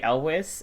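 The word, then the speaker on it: Elwes: Um my favorite actually Gilly movie is The Cat Returns which the English cast has Anne Hathaway and Carrie Elwiz.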